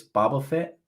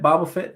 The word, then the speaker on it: Boba Fett: he's a damn damn you're not even pronouncing it correctly it's boba fett boba fett uh whatever boba fett bible fit doesn't matter man you